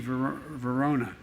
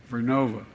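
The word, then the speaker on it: GE Vernova: going to go into turbines made by GE Verona excuse me I mispronounced it vernova in Florida New York pattern energy will use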